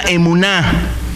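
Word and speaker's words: אמונה: tal, la palabra fe, un concepto hebreo que se pronuncia emuná.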